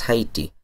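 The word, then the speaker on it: Haïti: In French it is pronounced Haiti, and it is spelled as displayed on the screen.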